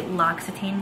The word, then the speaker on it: L'Occitane: and i picked up these two from the l'occitane brand and that's how you pronounce it so i love this for shaving